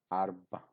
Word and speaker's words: arba: So here ra is a silent or a semi-silent sound. Arba, arba. But in such kind of arrangement is when there are silent sounds, the next sound here in this case ba looks strong.